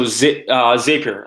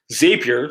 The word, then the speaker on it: Zapier: stuff that you're using, Zapier, so I pronounce it Zapier. Some people pronounce it Zapier.